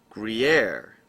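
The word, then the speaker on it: Gruyère: We're going to go get the guarere cheese. Let's see how it's pronounced. I'm curious how cheese is pronounced here. How to pronounce guar, whatever. Gruyere.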